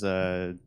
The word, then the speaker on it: Soderbergh: Yeah, this is Soderbergh. Yeah, Is that how you say it? Soderbergh.